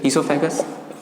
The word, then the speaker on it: oesophagus: ईसोफेगस में ओ silent है, OESOPHAGUS, ईसोफेगस।